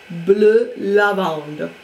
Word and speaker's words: Bleu Lavande: I bought a Balenciaga Velo in the color Bleu Lavande. I'm pronouncing it in French because that is the name on the website.